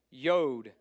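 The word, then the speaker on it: יוד: Sound K Tate t yod rhymes of toad it's a y sound y cough k sound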